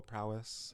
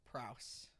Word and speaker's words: prowess: more like fun videos, like Ladyboy sessions, maybe like show you guys some of our little musical prowess, perhaps. I think it's pronounced Prouse. It's not.